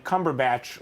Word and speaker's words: Cumberbatch: right uh and then Cumberbatch like a like a Harry Potter plant like a plant from